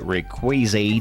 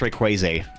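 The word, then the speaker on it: Rayquaza: It's pronounced Rayquaz for those that don't know. I know you guys are always giving me about how I pronounce Pokemon names, but I say Rayquaz cuz he's like crazy, right? Ray Crazy.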